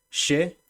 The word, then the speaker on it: che: les voy a leer che pronunciamos así el ch pronunciamos como Che como si fuera sh que sería la primera